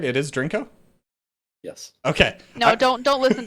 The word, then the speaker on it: Drinko: Okay, and I am pronouncing it correctly now, right? It is Drinko?